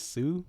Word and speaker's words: Hsu: Dr Sue and uh I believe the H is silent there but you know if you want to just call it Hsu research it's just easier for